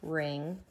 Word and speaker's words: wring: it wringing it out that has a silent W your mom doesn't look ring out your washcloth she rings it out so the W is definitely silent w ring what about written